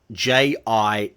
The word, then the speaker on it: Geely: its Chinese pinyin name, Geely, Jili, which means auspicious or lucky, and the J in pinyin is pronounced like the J in Jeep or judge, a soft sound, not a hard G.